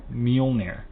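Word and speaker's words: Mjölnir: So how do you pronounce it? Mjolnir.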